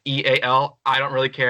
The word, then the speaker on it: eal: You guys have been pronouncing my name incorrectly for a while now. Oh, wow. Well, I've been pronouncing it because it's my initials. It's EAL are my initials, so that's how I've been pronouncing it. EAL.